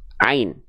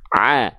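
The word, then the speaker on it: عين: ini namanya adalah huruf Ain ketika dia belum berharakat namanya adalah Ain Jadi jangan sampai teman-teman bilang ini huruf Aa tidak ada huruf hijaiah yang namanya huruf Aa ini namanya adalah huruf Ain Bagaimana cara melafazkan huruf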